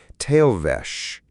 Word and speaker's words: Tail vesh: Tail vesh. Two beats, soft, the stress on the first, the second falling away into the deck's hum.